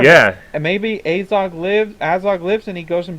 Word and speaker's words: Azog: like hat Nevada and it's Azog like hat AOG is looking better